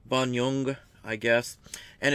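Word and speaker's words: Bonynge: Richard Banyung, I guess is how it's pronounced. Banyung, I guess.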